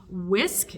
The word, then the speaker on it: Wiskf: contacted by the company whisk it's w-i-s-k-f I'm assuming the f is silent because I can't figure out how to say it otherwise so I'm calling it whisk whisk yes whisk so